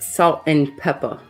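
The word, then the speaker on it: Salt-N-Pepa: four for Destiny's Child I believe that's pronounced salt and Peppa oh salt and Peppa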